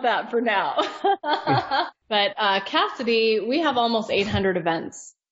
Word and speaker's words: Kasidie: friend and talk about Cassidy and first and foremost it's not spelled like Cassidy normally would be it could be a